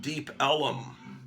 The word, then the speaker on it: Deep Ellum: far down Elm Street, they called it Deep Ellum. They pronounced Elm as a two-syllable word, Ellum.